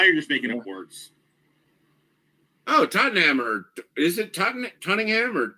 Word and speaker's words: Tottenham: here come on Minnie it is Tottenham but it's it's spelled like Tottenham or something ridiculous but it's Tottenham you know I realize